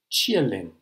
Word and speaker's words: Qilin: new battery called the chia lim and i believe that's how you pronounce it in chinese it's spelt q-i-l-i-n but i've looked this up and it sounds like you're cheering someone called lin is the name of